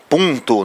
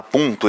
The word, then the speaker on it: Punto: do arquivo enfim né Punto né o nome do carro lá Punto esse um ele é nasalizado então nós somos uma